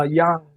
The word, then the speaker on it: Yang: for mayor now uh young named the yang gang and i believe it's pronounced young but i think he goes with yang which is more americanized but you know that's